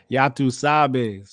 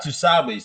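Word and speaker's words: ya tú sabes: How you say it? You're two sabes? Yatu Sabes. Not two sabes.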